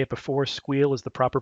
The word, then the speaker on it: SQL: behind it was that squeal is one syllable versus SQL is three syllables or SQL is two syllables so squeal wins unfortunately every time you say squeal you have to describe